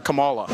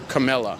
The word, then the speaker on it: Kamala: He was saying that 99% of this area is voting for Camilla. Is that how you say it? Kamala. Kamala. Who are you voting for?